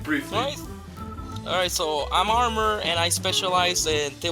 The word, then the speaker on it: ARMR: armor and so you can just call me armor then that sounded like what it should be pronounced that for us because I thought it